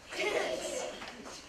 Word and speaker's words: Dickens: how I'll remember it because it rhymes with chicken. Dickens.